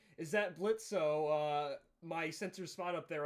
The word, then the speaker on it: Blitzo: Robo saying, "Is that Blitzo? My sensors spot up there. I bet the kitties are still running away from you, huh?" And then Blitz says the O is silent now, and then Fizz says,